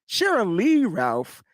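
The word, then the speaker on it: Sheryl Lee Ralph: uh as well Cheryl Ralph thank you Jacqueline Cheryl Lee Ralph thank you Janiece I said it right bam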